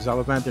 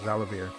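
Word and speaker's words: Xalavier: said that he and Zalavander Nelson Jr., his name is actually pronounced Zalavir, I said it wrong, the creative director and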